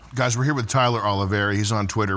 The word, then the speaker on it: Oliveira: Guys, we're here with Tyler Oliveira. Did I pronounce that right?